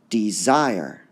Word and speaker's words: desire: immortal unstressed stressed unstressed desire desire all right so two syllables tricky word desire desire desire desire all right we hear the desire part going up so it's d zire there are certain words